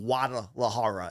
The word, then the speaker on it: Guadalajara: card in Mexico in Guada Laara as they pronounce it. So you can say the G in Guadalajara.